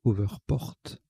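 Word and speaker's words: overport: rt alors le rectifie la prononciation c'est over porte on prononce al anglaise donc over porte à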